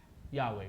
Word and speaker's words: Yahweh: How do you pronounce that? Yahweh, right? It is the supreme sovereign God.